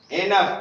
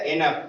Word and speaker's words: enough: Grace, grace, it, is, enough, ई से ए एन से नाक, o u g h होता है तो इसका उच्चारण यफ होता है, जैसे कफ, ठीक है ना? एनफ वैसे है एनफ, ए ई एन ओ